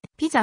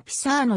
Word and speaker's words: Pisa: としてはピザが現地音に近い木沢かいざと発音される p さの表記もあるし北部にはピサーノ山がありバル